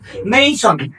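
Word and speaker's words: nation: নেশন নেশন নেশন মানে হলো জাতি এটার সঠিক উচ্চারণ হলো নেইশন একদম এই শব্দটি তো আমি মনে করি যে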